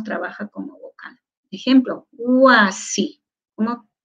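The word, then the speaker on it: wasi: No suena como una U, huasi. Pero cuando está escrito trabaja como consonante. ¿Y por qué no lo escribo yachachi jacá con U, huasi, como escucho? ¿No es cierto? Así con U. Porque no está permitido... Dentro de nuestra regla gramatical, dos vocales juntas en una misma sílaba. No está permitido. Entonces, wa, sí. Esa wa está en la misma sílaba. Entonces, esta u es w.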